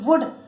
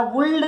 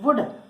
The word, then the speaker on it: would: WOULD वुड, याला वुल्ड नाही म्हणायचं, वुड.